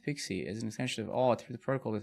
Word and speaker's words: PKCE: pkce what is pkce proof of key code exchange and is pronounced pixie is an extension of